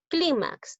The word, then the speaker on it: clímax: en y en vocal clímax es una palabra grave ahora esta palabra grave